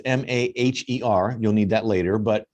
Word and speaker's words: Maher: by the way it's m-a-h-e-r you'll need that later but um pronounces it like bill maher and she's a sales